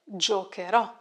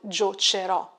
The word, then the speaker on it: giocherò: Giocare, giocherò. Careful with the pronunciation. Giocherò, not giocerò. We have to add the H to keep the hard sound K.